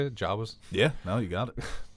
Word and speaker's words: Jawas: Jawas?